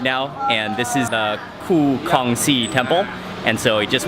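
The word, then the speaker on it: Khoo Kongsi: Ku Kongxi.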